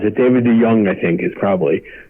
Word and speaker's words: DeJong: David DeJong, I think, is probably, because a J in Dutch would be a Y, is someone who a friend of mine introduced, and me too, long ago.